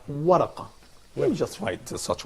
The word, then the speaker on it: ورقة: That's called waraqa. So can you pronounce it again?